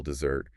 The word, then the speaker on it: dessert: But if you stress the second syllable dessert, you're talking about cake after dinner.